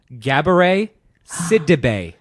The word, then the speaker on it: Gabourey Sidibe: The correct answer is Gabourey Sidibe.